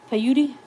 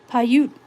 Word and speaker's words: Paiute: I don't know how to pronounce that. Paiute. And I might need your expertise on this one to tell me which one's which. All right. Paiute.